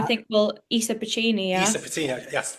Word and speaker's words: Pecini: Have I butchered it? No, I think, Elisa Pecini, yeah. Elisa Pecini, yes, Pecini.